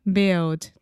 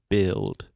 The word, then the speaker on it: build: that word for me build yes build you want to exaggerate that final L sound build great brands build yeah